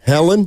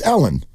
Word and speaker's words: Ellen: Helen? Damn close. Ellen. Ellen! Yeah. I asked her that before. The H is silent.